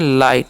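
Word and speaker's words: light: तोसे हम पढ़ते हैं लाइट क्या पढ़ते हैं एलटी लाइट लाइट मतलब क्या होता है जी इस लाइट का मतलब यहां पर भी जीएस साइलेंट होता है याद रखना लाइट मतलब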